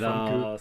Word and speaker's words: Famke: Ah, parce que vraiment, ça se prononce C'est Famke.